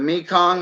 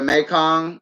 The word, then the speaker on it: Mekong: always go with it the Mekong or the Mekong you pronounce it either way and the wels catfish